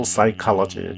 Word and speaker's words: psychology: Clinical psychology. P가 묵음이에요. Clinical psychologist.